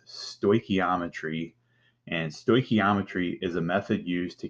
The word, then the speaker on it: stoichiometry: It's pronounced stoichiometry, and stoichiometry is a method used to calculate moles and mass of reactants and products from a balanced equation.